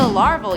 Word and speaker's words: Larval: In at 9, the LARVAL universe, Earth 8311. Earth 8311 is known as the LARVAL universe. Get it? Because it rhymes with Marvel, larval.